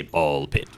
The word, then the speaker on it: BALL x PIT: So yeah, so I do think it's and they they think they say ball pit, right? So it's it's got to be pronounced that way. Uh without the X.